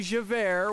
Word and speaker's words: Javert: That would be Javert, which is J-A-V-E-R-T, and is already pronounced as air.